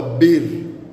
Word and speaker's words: bir: Na namba moja kwa kituruki hutamkwa bir bir na namba mbili utamkwa ikie.